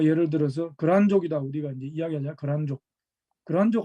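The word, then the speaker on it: 契丹: 그러니까 뭐 예를 들어서 거란족이다 우리가 이제 이야기하자. 거란족. 거란족 할 땐 이렇게 쓰고 이렇게 씁니다. 글단이라고 쓰고 이걸 거란이라고 읽어요.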